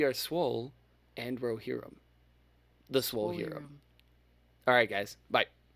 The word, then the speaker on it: Swolhirrim: check out apple podcast spotify all with the swole hero i said it right that time swole here the swole hero we are swole and rohirum the swole hero alright guys bye